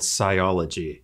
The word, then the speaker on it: Cyology: So your company is called Cyology. Have I pronounced that right?